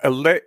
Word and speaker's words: Allais: We have Allais. Oh, God damn it. Allais Malaise. All right. See, the S in Allais is silent, apparently.